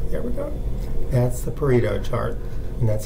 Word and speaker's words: Pareto: That's the Pareto chart, and that's how you pronounce it.